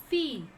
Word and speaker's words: fille: It is fille. Fille. Fille. How to pronounce?